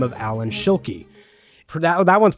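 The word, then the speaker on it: Alan Schilke: be legendary coaster designer by the name of Allan Shuli that that one's pronounced right right that one is correct nailed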